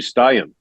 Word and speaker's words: Thomas Steen: Well, Thomas Steen was actually Stein in Swedish.